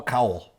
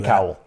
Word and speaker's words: Cowell: I'm going to give you Co Cowl. Okay. There you go. There you go. With the hood. Yes. Andy Cowell.